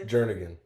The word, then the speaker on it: Jernigan: Jernigan.